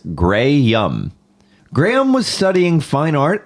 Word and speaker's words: Graham: And lo and behold, on May 6th, 2013, he confirmed on Twitter that is pronounced Grey Yum.